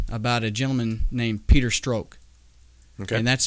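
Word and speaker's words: Strzok: was the revelation about a gentleman named peter stroke okay and that's spelled s-t-r-z okay okay he's one of the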